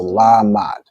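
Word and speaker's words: למד: join correct excellent okay so la is pronounced fully the ma and da are joined so la mad right excellent work okay also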